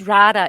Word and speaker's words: Rada: It's Rada. You're the It only is you're the Rada. only American I've heard say it correctly. So well done. Yes. Yes. Definitely Rada. Another Slavic type name.